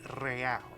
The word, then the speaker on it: real: You owe me 130 real. Real. He pronounces the R with a mock aristocratic accent.